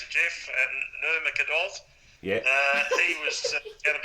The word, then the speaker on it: Nurmagomedov: And the news out there, mate, is that the match between Khabib, how do you pronounce it, Jeff? Nurmagomedov.